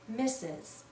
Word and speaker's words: Mrs: mistress but we almost always read this as misses mrs is another title of respect we use